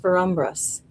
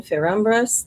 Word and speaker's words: Ferumbras: Sir, like a S-I-R, Sir, I think it's pronounced Ferumbras.